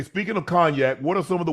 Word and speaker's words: cognac: You just taught me how to say cognac, but it's a fucking G in that motherfucker, and the G is silent.